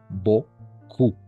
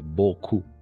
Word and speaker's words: beaucoup: Ah, el P aussi, le P también es muda, la P. Ok, ahí vamos. Ahí está. Entonces vamos a pronunciar como, es así, beaucoup. Así de simple, beaucoup. ¿Por qué? Porque E-A-U, todo esto va a ser O, la B te queda tal cual, la C como K y la O-U siempre como U para nosotros.